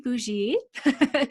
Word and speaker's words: Bougie: you say that uh well technically it is a french name pronounced boujee but it got anglicized